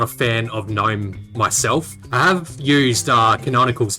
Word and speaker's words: GNOME: It's spelt gnome. Gnome is a not real animal that you call gnome, right? The G is silent.